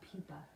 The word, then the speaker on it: pupa: I almost said pupae because that's kind of looks like how it's spelled. They're called pupa.